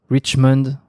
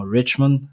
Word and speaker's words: Richmond: Est-ce qu'il faut le prononcer avec l'accent anglais? C'est mieux avec l'accent vu que c'est un prénom anglophone. Mais bon, en Ouais, France, il y en a pas beaucoup qui le font avec l'accent, donc je prends.